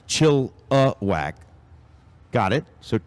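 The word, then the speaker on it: Chilliwack: bleachers says I am from chillak and it's pronounced chillak got it so chill whack yep I I actually and their motto is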